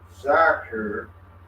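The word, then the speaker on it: dhikr: The word dare, pronounced zakir, is commonly translated as remembrance and invocation, or as chanting, particular prayers and names of Allah.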